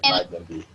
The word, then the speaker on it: Magendie: Y el del centro, que se pronuncia exactamente ese, Magendie.